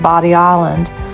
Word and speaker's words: Bodie Island: One thing that surprises many visitors is that Bodie Island is actually pronounced Bodie Island.